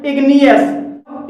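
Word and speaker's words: igneous: जी silent नहीं है तीसरा हमारा अपवाद है इग्नियस इसमें इग्नियस में जी के बाद एन आया है और यहां पर जी साइलेंट नहीं है चौथा हमारा अपवाद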